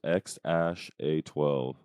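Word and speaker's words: X Æ A-12: X, it's pronounced X-A12.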